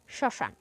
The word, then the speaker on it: শ্মশান: যে স আছে আছে সেই স এর উচ্চারণে কিছুটা ঝোক পড়বে এবং সামান্য নাসিক্য হবে শ্মশান আমরা চন্দ্রবিন্দু ব্যবহার করলে